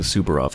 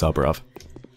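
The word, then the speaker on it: Saburov: is I remember for a long time I mispronounced it subar ROV or something it's soov my chest hurts can it be conscience okay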